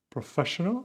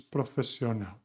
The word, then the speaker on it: profesional: It's not professional, it's profesional.